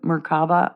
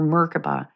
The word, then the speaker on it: merkaba: I see this as the meraba or meraba depends how you say it but the tree